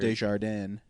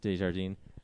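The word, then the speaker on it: Dujardin: Desjardins. Yeah, he plays like Say it like it's mustard. this French spy, and it's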